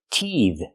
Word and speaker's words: teethe: baby is teething let's talk about the verb teethe compared with a noun teeth one tooth more